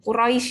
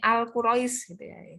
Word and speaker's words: Quraisy: selanjutnya itu ya Nah Quraisy ya Nah Quraisy ini biasanya pengucapannya ada agak kurang tepat gitu ya pengucapannya biasanya al-quraisy kenapa enggak ada Al ya ini sudah spesifik kita pada nama suku ya yang ada di